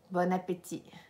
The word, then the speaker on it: bon appétit: but a potato and no Bon Appetit do not pronounce the T at the end okay Bon Appetit Bon Appetit telecom ass